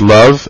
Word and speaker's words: Lvov: Right away, Prince George Love, L-V-O-V, is how it's spelled, became prime minister, and Alexander Kerensky, who is pictured here on the left, became Minister of Justice.